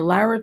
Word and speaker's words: Lara: I'm sorry, it does no good for Lara Trump, I call her Lara because that's the way it's spelled, to go to the border a couple of days ago, stand there for a visual.